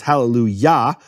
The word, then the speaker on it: Hallelujah: And what happens because of that is the kamatz of Yah, which Yah is always the emphasized syllable. It's Hallelujah.